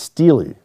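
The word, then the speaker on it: stele: saying saying i always thought he was saying stella and it wasn't until like months later when he finally corrected me he's like no stella is a beer he's like this it's steely is the way that it's pronounced uh you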